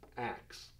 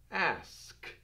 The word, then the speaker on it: ask: K and this s ask becomes axe and that really isn't the way you say it you say ask so just really simply